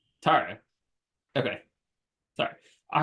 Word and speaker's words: Tarra: Is that how I pronounce it? It's Tara. Tara.